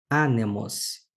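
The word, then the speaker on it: ἄνεμος: É o caso de anemos. Anemos, que significa vento, a palavra tem o seu acento na antepenúltima sílaba.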